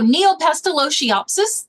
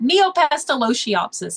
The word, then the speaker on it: Neopestalotiopsis: the chat as we go all right so neopestalotiopsis that's the name of the disease and that's